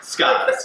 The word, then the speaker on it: Skags: Well, here you pronounce the G? Not in the last name. So when Or I Skaz? Skaz, yes. That's the French pronunciation.